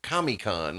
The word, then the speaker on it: Comic-Con: So it's the big thing is San Diego Comic-Con, but they pronounce it Comic-Con like it's one word.